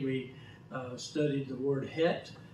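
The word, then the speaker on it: חית: uh studied the word het it's spelt c-h-e-t like czech but it's called het and if you haven't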